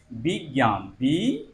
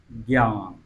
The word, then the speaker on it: বিজ্ঞান: যোগ ইয়, এবং এটির উচ্চারণটা হবে এমন যে বিজ্ঞান, বিজ্ঞান, বিজ্ঞান, সঠিক উচ্চারণ হচ্ছে এটি, বিজ্ঞান।